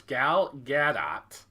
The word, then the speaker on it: Gal Gadot: get out okay so from now on it's gal gadot this was another one so the lead actress